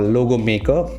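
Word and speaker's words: Logomakr: make a little bit it's called logo maker and it's called hello it's spelled logo m-a-k-r you can go here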